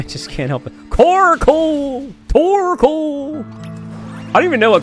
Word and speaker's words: Torkoal: Oh, the reason why I was saying Coracle, that's not how Carcoal sounds, but something that rhymes with it. Tarcoal. No, Torkoal.